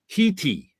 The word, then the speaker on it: Gete: Gete. You want to take a guess on how to pronounce that one? Because I never would have guessed this. Jeti? Heti. Reti. Because Haiti, he spelled it phonetically HEE-TEE.